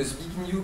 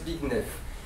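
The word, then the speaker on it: Zbigniew: m'en voudrez pasce que j'ai toujours prononcer son nom comme ça et c'est que très récemment j'ai appris qu'il fallait prononcer ça big nef big new kkovski et bigf kkovski c'est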